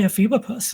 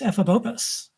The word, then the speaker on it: Ephebopus: Like I used to say ephebopus, and it's ephebopus. Ephebopus.